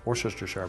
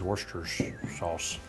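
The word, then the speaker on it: Worcestershire: Now, if you look at it the way it's phonetically, it looks like worister shar, but I think it's worsters sauce.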